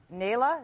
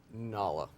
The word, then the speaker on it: Nala: Now, Travis, I know you would never cheat on your girlfriend, so tell the audience about Nayla. Is that how you pronounce her name? Nala. Nala. My mistake, but I don't blame you.